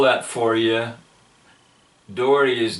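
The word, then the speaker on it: Dougherty: his book Fast Lane to heaven and I'll spell that for you Dory is d o u g h e r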